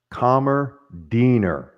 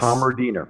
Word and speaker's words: Kammerdiener: If I was in Germany, what would be the proper way to say your last name? Kammerdiener. Yes. Kammerdiener. That's German.